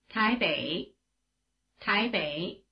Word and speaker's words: 台北: 伟伟伟 The diphthong A is spelled EI as in Taipei, the largest city in Taiwan, which is pronounced in Chinese like this. 台北台北 Remember that, without the